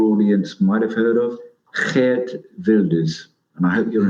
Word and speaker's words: Geert: might have heard of, Geert Wilders. And I hope you're impressed out there with my Dutch accent. Geert Wilders. From the Netherlands. We just pronounce it Gert in Australia.